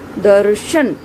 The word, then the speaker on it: दर्शन: यहाँ पर आप पाएंगे, आप भली भांति इसको समझ पाएंगे कि जो र का यहाँ उच्चारण है वह आधा है और श का उच्चारण पूरा है। तो यहाँ पर जो र है रेफ के रूप में लगा हुआ है वह जो है स्वर रहित है, और जिस वर्ण के